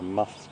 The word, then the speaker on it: musth: temporal gland or the musth gland. M-U-S-T-H, that's spelled, everyone. M-U-S-T-H. It's a little bit of a mouthful. Musth. So you say the M-U-S, mus, and then th at the end, musth.